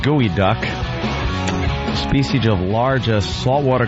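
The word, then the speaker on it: geoduck: oping Anthony uh pronounced gooey duck species of large a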